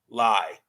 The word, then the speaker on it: Lye: was a golf commentator mark lye that rhymes with rye um he was fired